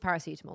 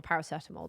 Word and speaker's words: paracetamol: It's just called paracetamol or paracetamol, depending who you ask.